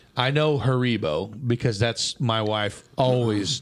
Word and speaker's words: Haribo: go it is a German yeah German company Haribo say it again say it again say it